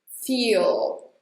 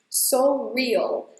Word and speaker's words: feel: And when you say "feel" This is a very tightened /i/ sound. Just like with "say", "feel". And here you have a true L sound. Make sure your tongue is pressing against the back part of your teeth, of your upper teeth: "feel" And at the